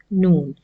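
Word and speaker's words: نون: The back gums of the upper incisors, it is the spot where you will touch your tongue with the tip of your tongue and pronounce noon. So exactly that's how you will pronounce noon.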